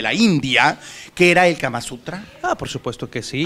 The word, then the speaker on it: Kama Sutra: ¿Kama Sutra o Kama Suntra? Yo que Kama Sutra, porque Kama Suntra es una oficina, ¿no? El Kama Suntra es de gobierno, ¿no? Es una oficina de gobierno.